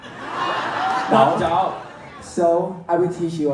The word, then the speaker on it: Daou: Because most of people always call me Dao. Dao. So I will teach you, okay? Yeah. It's like TH sound, like fart, like ba.